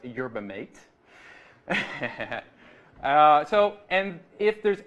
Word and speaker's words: yerba mate: just informed me is the proper way to pronounce yerba mate.